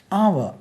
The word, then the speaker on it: our: OUR ஆவ. இதை வந்து ஃப்ளாட்டாக ஆ சொல்கிறதோட ஆவ சொல்கிறது தான் நல்லது.